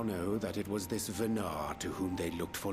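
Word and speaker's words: Venat: ever heard of this venard before hey I was correct I assumed silent T cuz French names in this game and Silent T's I was correct for a certainty EMT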